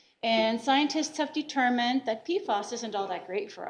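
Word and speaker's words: PFAS: floral like so and it's really just pfos p-f-a-s okay and it is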